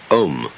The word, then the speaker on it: Om: rather than its meaning chief of these is the syllable om or Al called the prava or the sound of God because it involves the whole range of the voice from the back of the throat to the lips take the tone from